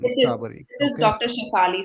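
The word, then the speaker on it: Tsabary: Tasabari? Yes, it's Dr. T-S-A-B-A-R-Y. Shefali Sabari, yes. Sabari. Okay, T is silent. Sabari.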